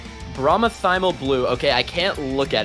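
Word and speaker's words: bromothymol blue: Bromothymal blue. Bromothymal blue.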